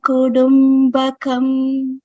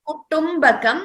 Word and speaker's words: kutumbakam: Kutumbakam, it is not da. Please note, all of you, we should be very careful while pronouncing ta. So it is ta and not da. It shouldn't be heard as da.